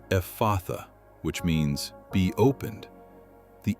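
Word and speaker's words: Ephphatha: The word is Ephatha. Ephatha. Pronounce it with me. Ephatha.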